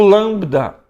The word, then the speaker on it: lambda: também é o som o lambda tem que tomar cuidado porque às vezes nós pronunciamos o l como u no Grego é l l então lambda mesmo que tiver no meio ou no fim tem esse som de la a língua acima do